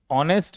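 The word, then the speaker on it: honest: जैसे नाइफ में नाइफ में के साइलेंट ऑनेस्ट में एच साइलेंट और डाउट में डाउट में बी साइलेंट।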